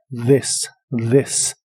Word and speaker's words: this: this que significa esto la th de esta palabra se pronuncia como una d vibrante this this y usaremos la palabra